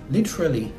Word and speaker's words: literally: Oradaki adam literally ifadesini American aksan ile söylemeye çalışırken literally, literally oradaki T'yi D olarak söylediğine ama en kolay şeklinde literally, literally olarak söyleyebilirsiniz.